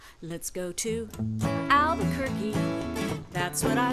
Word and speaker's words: Albuquerque: name zeke and mommy albuquerque it's a word that rhymes with turkey just say the word